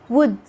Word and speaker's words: would: Letter L is silent in some of the most famous and common words we use every day. Like when you say walk, talk, should, would, half. Letter N.